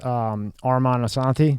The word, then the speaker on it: Armand Assante: So before we get into all your stuff, when I was going through it, I saw the picture of you with Armand Assante.